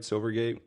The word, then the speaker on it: Silvergate: Silvergate?